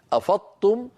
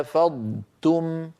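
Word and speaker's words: أفضتم: سمعتموني جيدا ايها الاخوه هذا نطق خاطئ افضتم صار النطق كانه طاء مشدده وليس الامر كذلك لا بد من ان ننطق ضادا ضادا ضادا يتلوضا مفخمه مستطيله يتلوها تاء مرققه مستفله هكذا فاذا فاذا فاذا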